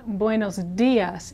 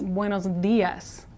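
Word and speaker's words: buenos días: for a second here the D here is like the th in brother and this not like the th of thick but like the th of brother it's a little muffled here because it comes after an S so you don't hear it as much but it's not buos Das it's buos Das buos Das you can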